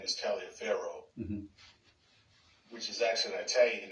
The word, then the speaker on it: Taliaferro: A lot of people don't know that his middle name is Taliaferro, which is actually an Italian name. In America, we syllabicate it and pronounce it out, but in Italy, it's pronounced Tolliver.